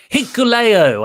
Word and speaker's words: Hikuleo: Hikuleo, I learned how to say it, took on Lance Archer next for the United States title with Haku coming out, King Haku.